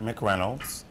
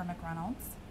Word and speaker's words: McReynolds: say your names the way you like them pronounced and MC Reynolds okay and MC renolds great and we're just going to be talking